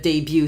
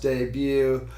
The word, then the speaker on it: debut: confused when you said the but instead of debut so where did the butt come from was